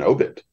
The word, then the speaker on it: obit: obituary but in um in the newspaper game it's an obit it's the first syllable interesting and and I